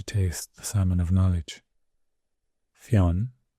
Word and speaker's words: Fionn: Theon could be pronounced Finn in some places and Finus Fineus was